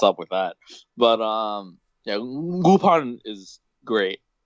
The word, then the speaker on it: Lupin: Why do we pronounce it Lupin if it's an I? It's French.